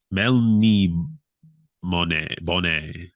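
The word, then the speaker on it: Melniboné: it's I heard it's you got to pronounce it like lemonade so Mel Mel mon Bonet but el el from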